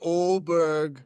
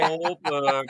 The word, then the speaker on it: Åberg: So I like Ludvig Åberg. That's right. Not for 3. Oberg, baby. Pronounce it Åberg, even though it's Åberg. It's got the Åberg. circle above the A.